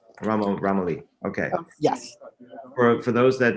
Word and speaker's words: Romoli: Now that I pronounced that correctly? Yes, Romoli. Romoli.